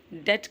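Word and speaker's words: debt: आई am under डेट डेट का B silent होता है ओके प्रंस में अगला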